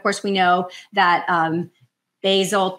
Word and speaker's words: Basel: we know that um bazel 2 or Basel II as they pronounce it over in Switzerland a vasel 3 rather